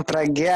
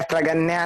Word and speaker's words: प्रज्ञा: अरे उसका नाम प्रज्ञा है, प्रगन्या नहीं। हाँ प्रज्ञा। N is silent in my name.